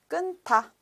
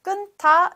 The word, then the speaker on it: 끊다: So when you read loudly or when you pronounce 끊, so we should still keep the first final consonant 니은, and then 타, 끊다. So we still respect the aspiration. So 끊다 is right pronunciation.